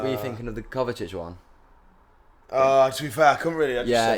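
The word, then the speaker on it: Kovačić: I knew Rico Lew been sent off but it's Kovacic. Yeah. So Oh, I didn't think. Yeah, it's a hard C this one.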